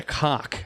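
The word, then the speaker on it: Kok: That round ball is called a cock, a K-O-K it's spelled.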